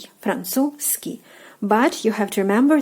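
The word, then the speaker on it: французский: So, Z sound you're basically omitting. You're like Franzuzski. Like you're like jumping over the z sound and like going Francu and right away to ski. Francuski.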